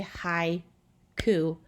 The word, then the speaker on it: haiku: we look at haiku so when you say hi ku it's where it stops it's basically almost um